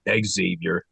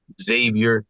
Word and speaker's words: Xavier: good for a game that you know that's Xavier game and it is it's Xavier not Exavier Kyle guy hey man I can't do nothing